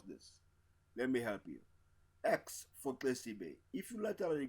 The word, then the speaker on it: Xesibe: let me help you x4 tasty Bay if you let me click your tongue at the sides of your mouth you hear the sound